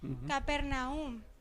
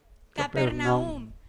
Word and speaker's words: Capernaum: va hasta el final capernaum capernaum es como en la última sílaba como el lápiz dijimos